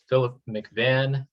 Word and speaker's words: Philip McVann: Today's guest is Philip McVann. I think I'm pronouncing that right. Is that accurate? Perfect.